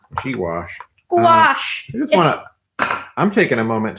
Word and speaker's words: gouache: oh you a CH e yeah um it's pronounced G wash G wash wash I'm taking a moment to look inside